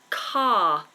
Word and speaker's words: car: It starts exactly the same as the word car. I drive a car. Notice how my mouth stays completely open, my tongue doesn't move, and we don't pronounce the R.